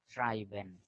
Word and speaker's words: schreiben: And SCH is sha. Schreiben, schreiben, schreiben, no?